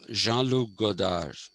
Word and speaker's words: Jean-Luc Godard: You don't pronounce the last D, that's how the French language is. You don't pronounce the last syllable. So Jean-Luc Godard.